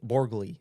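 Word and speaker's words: Borgli: It is an A24 film from Christopher Borg Borgley. Borgley, sorry. Christopher Borgley. I'm telling them you mispronounced it.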